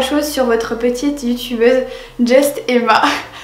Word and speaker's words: Juste Emma: sur votre petite youtubeuse Just Emma. Tout le monde dit Just Emma, c'est justement à prononcer à l'anglaise.